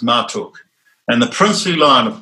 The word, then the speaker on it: Marduk: ma r Guk since written Marduk but it's pronounced Martok and the princely Lion of Persia went to